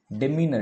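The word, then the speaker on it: demeanor: ठीक है, अलग अलग प्रोनाउंसिएशन हो सकती है, डेमिनर भी होता है, डिमीनर भी होता है, डेमनर भी होता है, डेमनर। अगर आप यूके वाली सर्च करोगे, यूएस वाली, तो डेमनर बोलेगा, डेमनर।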